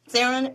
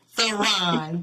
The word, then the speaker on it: Therron: he's my guest on today help me welcome theen welcome how are you sir how are you I'm doing wonderful I hope I'm pronouncing your name correct yeah you're close just say it f all right Theon thank you so much I'm so happy to